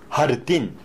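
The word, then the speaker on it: jardín: 하르틴. 하르틴. 하르디네로. 하르디네로. 제자는 히읗 발음을 조금 강하게 하는 편이니까 이거를 영어같이 지읒 발음하시면 안 돼요.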